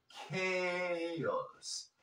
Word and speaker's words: chaos: despite the chaos chaos sí lo vas a pronunciar chos desp the chaos he